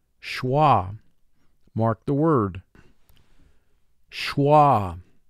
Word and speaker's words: schwa: mark the word schwa notice there is a wave sign under the letter s the wave sign indicates a letter or letter team is silent as it is in this word schwa notice ch has a